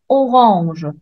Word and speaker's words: orange: prononce a mais ici dans le mot orange on voit la lettre A on prononce pas à en prenant ce qu'il y a n après le a donc je le prononce entre il y a